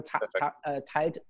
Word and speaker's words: teilt: Okay, yeah, so yeah, Gabriel Teilt, T-E-I-L-T, Teilt Sachen, shares things, right?